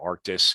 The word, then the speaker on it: Arctis: So you see all our name changes is now Arctis, although it's spelled Archtis, but Arctis is the way we say it.